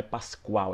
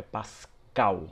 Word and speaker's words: pascal: já corrigir uma pronúncia muita gente fala o cordeiro Pascoal Então não é Pascoal é Pascal Então é só você lembrar de Páscoa que é com c lá e não com q u a portanto não é Cordeiro